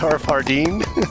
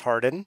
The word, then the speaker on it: Harden: feels awkward Jar Fardeen Hardeen and I totally mispronouncing everything well thanks for having me back yeah it's just Harden Oh God okay you